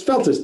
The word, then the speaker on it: Feltus: Is it Feltz or Feltes? It's Feltus, 2 syllables.